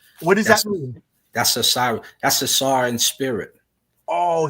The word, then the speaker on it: Osiris: Yeah, you could pronounce it Usir as well when you get into the demonic.